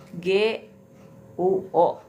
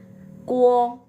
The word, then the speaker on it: guo: GUO bacanya bukan guo tapi kuo, kuo ya.